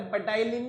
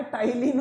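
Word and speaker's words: ptyalin: अरे पटाइलिन नहीं होता है, टाइलिन होता है। क्या होता है, टाइलिन इसका प्रोनाउंसिएशन होता है।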